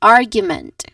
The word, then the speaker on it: argument: So again this is gu and then it ends with meant which has a schwa vowel here. So we all in all we get argument again argument r is the stressed syllable.